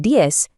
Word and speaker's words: diez: The Z sound at the end of diez often sounds just like a soft S in many Spanish-speaking regions, so saying diez is perfectly fine.